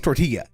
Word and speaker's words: tortilla: It's always tortilla. It's always with the Spanish L equals Y pronunciation.